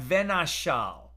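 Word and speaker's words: ונשל: Now, the word for displaces here, we're going to pronounce that venashal, right?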